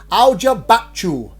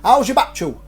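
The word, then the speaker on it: Hoia-Baciu: Now, I phonetically wrote this, so I know how to say it. Aljabachu. How's your Bachu? My Bachu's very Oh, that's all right then. Aljabachu. So Aljabachu Forest is regarded as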